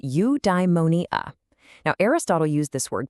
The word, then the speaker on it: eudaimonia: Okay, I've got a new word for you, eudaimonia. It's pronounced you-die-mo-nee-ah.